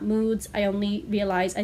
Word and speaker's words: MOODS: And I'm so sorry that last time in my video I said mods, not moods.